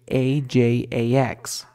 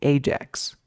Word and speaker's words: Ajax: la palabra número dos no es que se pronuncie ajx puede que tú la digas así ajx pero yo he escuchado que se dice Ajax Ajax algunos le llaman sí